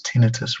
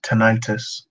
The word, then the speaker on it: tinnitus: you should I religiously and regularly pronounce tinnitus wrong apparently it's pronounced tinnitus there you go yeah